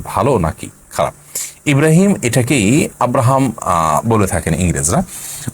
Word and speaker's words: ইব্রাহিম: নিয়ত থাকে এটার কোন সমাজে আপনি আছেন সেখানে ইব্রাহিমকে মানুষ আব্রাহাম বলে তাহলে সেটি জায়েজ হতে পারে কিন্তু আপনি যখন এটার শুদ্ধ উচ্চারণ ইব্রাহিম কোরআনে কারীমের আয়াত আপনি জানেন তাহলে